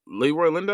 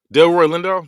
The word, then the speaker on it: Delroy Lindo: Leroy Leroy Lindo, I think you say his name. Del Roy Lindo.